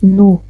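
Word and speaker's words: Nu: N-U, mais ça se prononce nous, comme N-O en français.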